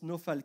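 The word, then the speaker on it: נפל: C'est le mot nafal, qui se prononce nofal, qui signifie chuter, tomber de mort violente dans le malheur, être ruiné, tomber prosterné.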